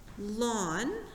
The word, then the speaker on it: ln: the way it's pronounced lon like the like your front lawn okay that means this